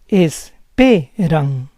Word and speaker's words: esperan: Third word ends in N. The stress goes on the second to last syllable. Esperan, esperan.